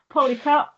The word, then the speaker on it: Pollecutt: Poly cut.